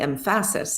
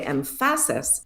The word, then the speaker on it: emphasis: So, you know, really we say this word emphasis. But if we say empasis, that second syllable is awah. Emphasis. Um, but as soon as we change it to empasis, now really the first syllable is pretty much awah, empasis, and the second syllable we know is an a because the a sound is made by the letter a.